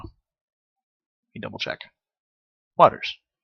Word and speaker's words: Waters: Waters, not Walters.